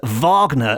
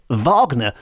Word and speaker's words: Wagner: people I certainly would pronounce Wagner the way it's supposed to be pronounced in the German which is Vagner as in Richard Vagner which makes it into